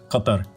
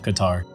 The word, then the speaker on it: Qatar: that Qatar's actually pronounced Qat -tar. This sound doesn't exist in English which is why it's so hard for people to pronounce it so in English I usually just say Qatar.